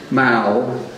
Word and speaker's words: Mao: Her nickname at the winery was Mao, pronounced Mao, short for mouth, because she was often